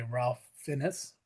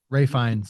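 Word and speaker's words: Ralph Fiennes: Ian Kelson, played by Ralph Finnis or Finn Ray Fines, actually. It it's it's Ray Fines is how you it's it's he's he pronounces his name completely different from how it's spelled.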